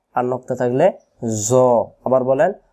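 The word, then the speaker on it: ظ: ত আর নক্তা থাকলে জ আবার বলেন জ ত আর জ অক্ষরের মাখরাজ একই রকম জ অক্ষর কেমন করে পড়তে হয় জ অক্ষর জিহ্বা আগা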